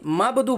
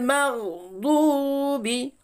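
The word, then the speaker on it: مغضوب: এখানে অনেকে দেখেছি মাবদু বলে, এখানে কিন্তু বা নেই, এখানে আছে গাইন। ওই জন্য করে আমরা এখানে গাইনের উচ্চারণ গাইনেই বের করব। তাহলে গায়রিল মাগদুবি আলাইহিম, আইন জবর আ,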